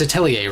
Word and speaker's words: Atelier: the new Atelier, it's Atelier, right? I've been pronouncing it wrong this whole time, which I didn't figure that a Japanese series would be pronounced with like French pronunciation, but you know, the more you know.